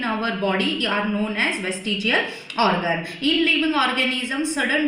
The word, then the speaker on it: vestigial: Now we are towards the third evidence, that is vestigial organ. Now, what do you mean by vestigial organ? Vestigial, first of all, look on the spelling, because it is not waste, it is west, V-E-S-T.